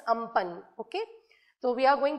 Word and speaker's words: Amphan: Okay, it's actually some people call it Amphan, but it's the correct pronunciation is Amphan.